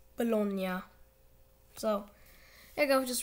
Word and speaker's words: Bologna: to be pronounced so no you do not pronounce this team balogna or baloney it's bologna so there you go just ruined your childhood